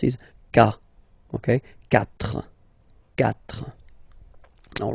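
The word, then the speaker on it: quatre: final S not pronounced catra catra okay so remember that even if you've got this vowel here basically you don't pronounce it because that's the rule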